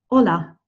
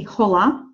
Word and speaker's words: hola: really basic really simple hola so red Betty mostly repeater hola hola so you will notice that I am ho pronouncing hitch right we do not say holla you see hola you me know that